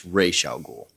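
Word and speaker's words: Ra's al Ghul: to add to that my answer to the RW or r or Raz or whatever it's Raya goul and the only reason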